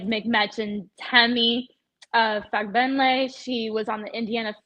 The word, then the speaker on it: Fagbenle: Temi Fagbenny. Did I pronounce that right? Fagbenle. Fagbenle. I'm sorry, that's an Yeah. L. Okay, so Temi Fagbenle.